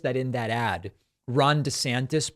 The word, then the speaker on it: DeSantis: He's demanding that people call him DeSantis rather than DeSantis. Actually, I like De better, a nicer flow, so I'm happy he's changing it.